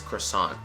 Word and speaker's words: croissant: say it and it's croissant or croissant right so uh you want to make sure it's a cra again a very lazy sound and then after the